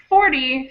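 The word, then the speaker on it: forty: On 14, 15, 16, and all of the teens, the syllable, the teen syllable is stronger. So, 14, 15, 16, that's where the stress of the word is on the teen. and 40 50 60 has the stress on the first syllable.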